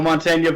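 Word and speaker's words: Mantegna: __ ] um yeah joe montagna very good pronunciation that's like like a true italian you pronounce that right there forget about it and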